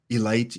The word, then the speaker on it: Elite: the Mountain, Felix Bautista, You mispronounced that. It's Elite. Elite.